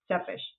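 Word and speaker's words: Țepeș: Sepish, that's how you say it.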